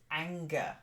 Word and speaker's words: anger: thank you then hamina the first word is anger not like Angel oh yeah anger that's